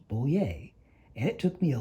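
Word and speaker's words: Bollier: pins for barbara boyer her pins show a bowl with the word yay on it because her name is pronounced bolier and it took me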